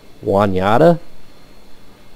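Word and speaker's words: Juniata: south you're supposed to j-u-n-i-a-t-a I assume that's Juan yata but uh yeah I'm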